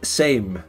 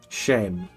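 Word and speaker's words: Sejm: Is it pronounced shame? Shame? Or same? Shame. Shame. So it's just shame. Shame on you. Shameful display. Same. Is it S? Is it S or sh?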